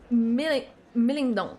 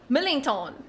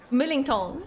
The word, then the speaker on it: Millington: Millingong. I hate myself. I hear myself. Why can't I make this sound English? There is a clear English pronunciation. I hate myself. Millington. Millington.